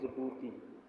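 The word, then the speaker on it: Djibouti: देखिए यह है जबू इसको बोलते है जबू इसका स्पेलिंग है डी जे बी ओ य आई इसमें जो डी है इसम जो डी है वो आपका साइलेंट इसको हम बोलते जब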